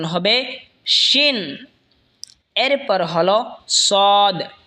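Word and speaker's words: صاد: এরপর হলো সদ। সদ জিহ্বার আগা সামনের নিচের দুই দাঁতের আগার দিকে লাগা উচ্চারণ হবে সদ অথবা সোয়াদ, দুটোটাই বলতে পারেন।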